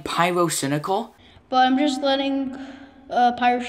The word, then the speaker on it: Pyrocynical: did you just got pirates in a girl's name wrong are you serious everybody knows it's pyrocynical or you could just call it pyro why